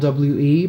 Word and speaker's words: W.E.: Madonna was publicly going around giving publicity to a movie that she directed, which was called W.E., pronounced We.